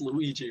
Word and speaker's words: Luigi: It's pronounced Luigi, okay?